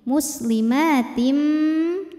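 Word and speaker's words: مُسْلِمَاتٍ: Muslimatim. Lalu berikutnya ada hukum idgham bi gunnah. Sebab ada tanwin kasrah menghadapi huruf mim. Cara bacanya tanwin dileburkan ke mim. Muslimatim. Jadi bunyinya m sambil tahan.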